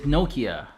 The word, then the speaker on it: Nokia: billion Hewlett-Packard then Nokia the proper way to pronounce the name is Nokia in the US we usually say Nokia their price to book